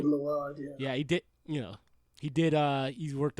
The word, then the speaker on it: Mylod: Yeah, is that how you pronounce the last name? Mylod, yeah, he did.